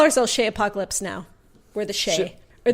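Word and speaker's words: Chez Apocalypse: That's CHEZ, the French way. Shay Apocalypse. Shay Apocalypse.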